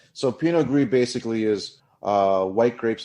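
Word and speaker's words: Pinot Gris: It's so pinogree basically is uh white grapes that have gray skins. It's what what's where gregio and Greek come. So gree is like gray gray.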